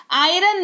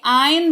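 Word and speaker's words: iron: request कर रही हूं आयरन नहीं बोलते हैं भाई आयन बोलते हैं क्योंकि यहां पर जो है आर साइलेंट है और साइलेंट लेटर्स के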